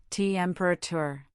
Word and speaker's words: temperature: For instance, temperature has stress on the first syllable, temperature.